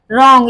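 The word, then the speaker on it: wrong: बाद आर आया है तो हमने इसको डब्लू को साइलेंट कर दिया तो हमारा क्या हो गया रंग आर ओ एन जी रंग हम क्या बोलेंगे रंग इसमें डब्लू साइलेंट हो जाएगा ऐसे ही रिस्ट डब्लू साइलेंट हो गया क्योंकि इसमें आ आया तो जिस भी वर्ड में जिस भी वर्ड में डब्लू के तुरंत बाद आर आता है तो उसमें डब्लू साइलेंट हो जाता है व साइलेंट वर्ड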